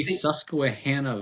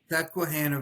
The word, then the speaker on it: Susquehanna: So give us a little bit of background on your region and pronounce it again. It's the F3 Susquehanna Valley. Susquehanna Valley. Susquehanna Valley, yeah.